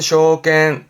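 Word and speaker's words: 証券: 발음은 쇼겐, 쇼겐.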